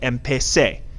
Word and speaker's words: empecé: This is pronounced empecé. Empecé. The infinitive is pronounced empezar.